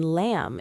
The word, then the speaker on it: lamb: The B in lamb is silent.